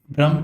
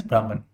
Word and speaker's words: Brahman: In certain places it is written as Brahma. Sometimes it is also written as Brahman. So it both same thing, pronunciation here and there, it is fine, because I have actually listened to a lot of people, lot of sayers. So both are acceptable.